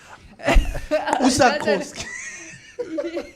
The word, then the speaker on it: Usakos: Usakos.